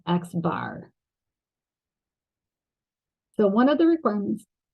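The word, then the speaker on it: x̄: this symbol here and we pronounce that X bar so one of the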